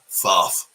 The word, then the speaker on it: Thoth: It's like sauce, but you say it like you have a lisp. Thoth.